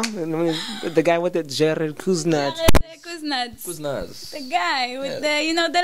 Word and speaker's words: Kusnitz: Am I saying it right? Nope. Kusnitz.